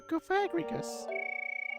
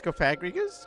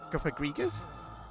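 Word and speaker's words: Cofagrigus: Chip says like coffin and egregious. Oh go. So it's kofagrigus. Kof kofagrigus.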